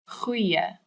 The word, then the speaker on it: goeie: This one's hard to say because it's got the ch sound that's so popular in Afrikaans language. Just pretend that you're really angry or irritated at something and you're going, ugh, and then keep that sound and go, goeie, goeie.